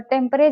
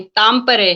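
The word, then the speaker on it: Tampere: Finland में वो freelance writer हैं, और टेम्परे, जहां वो रहती है, ठीक प्रोनाउंस कर रही हूँ? टेम्परे नहीं, तामपरे है, तामपरे। तामपरे है, ओके।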